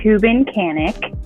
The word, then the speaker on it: Kubincanek: days are you working on anything fun it's Cuban Canik um and I am just writing for film